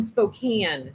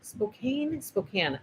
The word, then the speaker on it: Spokane: I've gotten a bunch of hello, Cindy from Spokane. Spokane. I've always heard it pronounced Spokane.